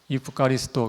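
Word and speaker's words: ευχαριστώ: 근데 현대 그리스어로는 약간 발음이 달라졌는데 이프카리스토 한번 따라해 보시겠어요?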